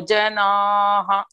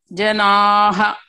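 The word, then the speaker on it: जनाः: Tapyante tapo, tapyante ye tapo janaha. Tapyante ye tapo jana. Janaha. Jana. Janaha, H-A, you have to pronounce.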